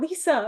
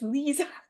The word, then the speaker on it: Leeza: I'm like, okay, I say her name like not Lisa, it's Leeza.